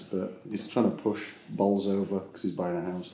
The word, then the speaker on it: Bolsover: He keeps saying this, but he's trying to push Bolsover because he's buying a house there. Oh, okay. Trying to get the house. But you have to pronounce it Bowser then, don't you?